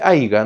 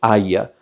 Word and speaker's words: haya: No se dice haiga, ¿no? Se dice haya.